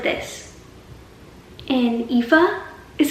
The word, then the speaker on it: Aoife: culture and stuff is the names and how they look one way, but you pronounce it a totally different way. Like Tig is spelled like this, and Aoife is spelled like this.